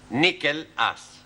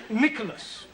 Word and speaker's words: Nicholas: upon a times there was a man called nickel ass it's not quite right no no once upon a time there was a woman called nickel ass it's pronounced Nicholas all right once upon a time there was